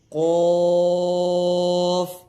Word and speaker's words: قاف: غین، فا، فا، قاف.